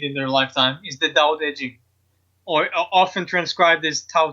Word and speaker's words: Tao Te Ching: anyone can read in their lifetime is the doubt edgy or often transcribed as tao te ching but no it's pronounced daodejin and knowledging is a very short book you